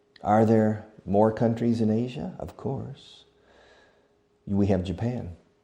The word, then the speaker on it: Asia: Asia. Fijaos en la pronunciación. Asia. It's a sound that you don't have in Spanish. It's like the French sound.